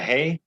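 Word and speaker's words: ה: that the the the hay uh-huh yeah the hay it makes the sound like an h okay and then one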